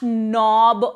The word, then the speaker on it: knob: The carpenter is fixing dash knob on the door. Again, K is silent.